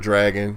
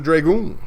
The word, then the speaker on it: Dragoon: So now I'm getting lit up by Rain saying it's Panzer Dragon, not Panzer.